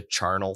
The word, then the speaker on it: Charnel: Or some people, it's spelled C-H. Okay. A-R, like, it's spelled like carnal with a C-H. So I pronounce it carnal. I'm like, this has got to be a hard C. Yeah. But I've heard people call it the charnel throne. And I'm like, that sounds so dumb.